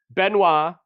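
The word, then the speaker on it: Benoît: names so it's Albert sorry I was just pronouncing it that way that's good benoa b n oi T yep Cedric and DeAndre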